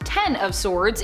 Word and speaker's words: X of Swords: it kind of was x of swords pronounced ten of swords in relation to the tarot card is a mutant event